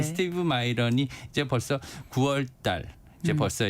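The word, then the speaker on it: Miran: 설계자라고 알려진 미란. 이제 미국 사람들이 마이런이라고 발음을 마이런. 하더라고요. 네. 우리는 미란. 네. 이 네. 스티브 마이런이 이제 벌써 9월달.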